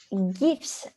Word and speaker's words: GIF: And he makes it sound like it's gifts, but it's not, it's gifts. Or GIFs, no matter how you want to call it. I believe the right pronunciation is GIF.